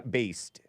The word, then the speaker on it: based: was from like now it sounds like you put a D at the end of that one. Yeah, with a D at the end. Yeah. Based. B. Is that how you say it or do you say bass? No, with a D at the end. I say it with I say it past tense.